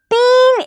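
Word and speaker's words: तीन: പഠിക്കണം ട്ടോ തീൻ എന്നാണ് ത എന്ന് പറയുന്ന ശബ്ദത്തിന്റെ കൂടെ നമ്മൾ ഈ എന്നുള്ള ഈ ചിഹ്നം ചേർക്കുന്നു പിന്നെ ഞ എന്ന് ഇട്ടു കൊടുക്കുന്നു അല്ലെ അതുകൊണ്ട് നമ്മൾ ഇത് എന്ത് വായിക്കുന്നു തീൻ എന്ന് പറയുന്നു തീൻ എന്ന് വെച്ചാൽ മൂന്ന് എന്നാണ്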